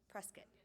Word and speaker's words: Prescott: sedona i'm sorry if i was if i pronounced that incorrectly prescott prescott all right perfect prescott and sedona um incredibly